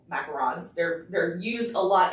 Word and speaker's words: macarons: know there is a lot of people doing macarons yes i'm gonna say it right but the